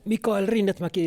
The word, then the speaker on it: Mikael Rinnetmäki: And Mikael Rinnetmäki is how I pronounce my name.